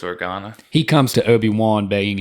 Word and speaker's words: Organa: i i should have looked up how to pronounce it i think it's organa he comes to obi-wan begging him to go